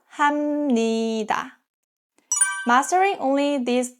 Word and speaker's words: 합니다: If a syllable ends with a P sound, like 비읍 or 피읍, and the next syllable starts with 니은 or 미음, the P turns into M sound. That gives 합니다 to 합니다.